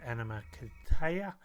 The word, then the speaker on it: Animakatayo: Um, it's actually pronounced Animakatayo.